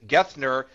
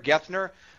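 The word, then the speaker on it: Geithner: choice for treasury secretary Timothy G GI gethner I think is how he pronounces his name gner gethner alen will correct me if I have it wrong the CEO of the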